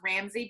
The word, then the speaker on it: Rambsy: you do and the services Instagram it is Ramsey and it's just are a aw don't even ask it's pronounced Ramsey but it's spelled are am b sy so